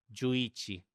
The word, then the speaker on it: Jú Ichi: Se escribe juichi, pero se pronuncia y juichi, que significa 11 en japonés, que tampoco es 11.